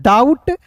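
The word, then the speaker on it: doubt: डी ओ यू बी टी को पढ़ेंगे दोस्तों डाउट।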